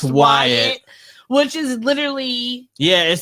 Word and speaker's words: Wyatt: divorce, husband white, and she said it's pronounced Wyatt.